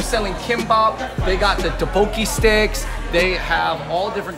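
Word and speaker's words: 떡볶이: All right, so I'm gonna get the spicy pork kimbap and one very, very spicy tteokbokki.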